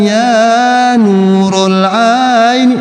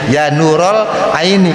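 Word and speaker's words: يا نورَ العين: Seperti ada orang marhaban ya nurul aini. Salah tuh orang bacanya ya nurol aini. Kenapa ya? Huruf nida. Kalau di kalau diidofahkan maka wajib fathah ya nurol aini.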